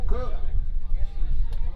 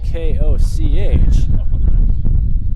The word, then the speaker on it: Koch: Batting for the Hawks, first baseman number 24, Bennett Cook. Bennett Cook currently at the plate. But that last name is not spelled C-O-O-K. It is spelled K-O-C-H. You'd think it'd be Koch.